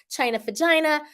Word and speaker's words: China Vagina: So again, congrats, China Vagina.